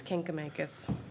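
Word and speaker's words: Kancamagus: And it's Kinkamakis.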